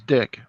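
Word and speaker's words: Dyck: today that called in to my job, I felt really bad for him because his last name was Dick, and it's like it's spelled D-Y-C-K.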